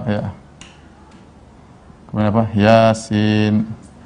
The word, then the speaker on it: Yasin: Yasin. Dibacanya bukan toh, dibacanya bukan yes atau yes, bukan.